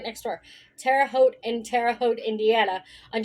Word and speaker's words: Terre Haute: Terre Haute in Terre Haute, Indiana, on June 11, 2001.